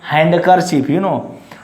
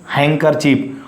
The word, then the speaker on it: handkerchief: Don't say handkerchief. Don't say or don't pronounce it handkerchief. Its exact pronunciation is handkerchief, or it is also called in informal HANKY, hanky.